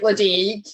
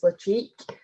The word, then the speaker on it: Ledaig: Ledaig looks like Ledaig, but it's not. It is Ledaig. So it's the Gaelic pronunciation, the specific Gaelic native to Mull, I suppose, on the island that it's just from.